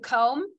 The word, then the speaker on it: comb: for example we have comb the B is silent we have pint which